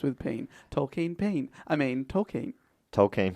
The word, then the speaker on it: Tolkien: been the rhyming to remind the professor, pronounce his name, rhymes with peen, rhymes with peen. Tolkien peen.